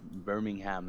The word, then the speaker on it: Birmingham: Combi user says, "Hey Astro, Birmingham is the second largest city in the UK. It's pronounced by Birmingham.